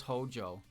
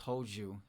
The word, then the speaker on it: Hoju: I thought it was Hojo. Like, I thought it was spelled like Tohjo. No, it's Hoju.